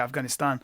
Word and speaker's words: Afghanistan: Notice how I say Afghanistan. That's the Pashtun way of pronouncing it.